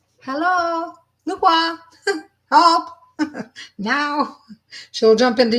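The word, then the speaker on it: Nu Kua: So this goddess, it's pronounced Nukwa.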